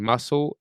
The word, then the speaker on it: muscle: In muscle, SC is S.